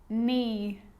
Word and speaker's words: knee: A K is not pronounced when it comes before an N, like knife, no, knee, knock, not, knowledge.